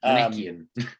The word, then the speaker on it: Manichaean: Christian thought, Augustinian and Manichaean. I don't know how to pronounce it. Manichaean. Yes, I think that's actually it. You're right.